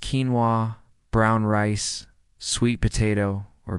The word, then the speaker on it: quinoa: This could be quinoa, pronounced quinoa, brown rice, sweet potato, or beans.